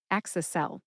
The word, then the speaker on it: Axicel: It is a long drug name with 2 words, and I can see why it has a nickname, which is Axicel.